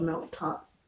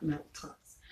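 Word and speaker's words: melktert: be sure to try several different kinds of milk tots as quality milk tarts in south african style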